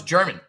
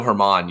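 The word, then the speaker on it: Germán: I thought it was German no Domingo Hermon you pronounce it because he's uh Latino you pronounce the uh G as an H interesting you would think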